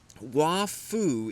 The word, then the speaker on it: Wafu: But Wafu is actually a Chinese pronunciation of Nishijima Roshi's given name, which is Kazuo.